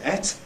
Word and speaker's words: ate: We used to think of this as an American-British difference, that Americans say ate and we say et.